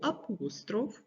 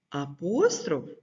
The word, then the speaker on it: апостроф: твердого приголосного то з'ясуємо як правильно апостроф чи апостроф так думки різні але запам'ятайте що правильно говорити і апостроф і апостроф переходимо до теорії апостроф